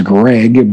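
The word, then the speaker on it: Greig: I want to say it's Greg, but it's spelled a little bit differently. It's G R I E G.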